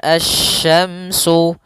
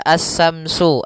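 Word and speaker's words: الشمس: Pada lafal asy-syamsu, di sini ada alif lam syamsiyah, yaitu alif lam yang ditulis tapi tidak dibaca, sehingga bacaannya langsung ke huruf shin. Nah, kemudian kita juga harus hati-hati dalam pelafalan huruf shin. Jangan dibaca as-samsu, as-samsu wal qamaru, bukan. Atau juga as-samsu dengan sa, bukan.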